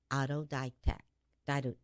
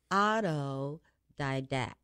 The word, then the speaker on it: autodidact: you a teaser now he describes himself as Auto Dyke tech died oh did I do that Auto Didact that was hard let me do it again